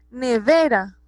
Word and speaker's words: nevera: Nevera, nevera, ¿cierto? Tiene el acento en la penúltima sílaba, entonces es una palabra grave.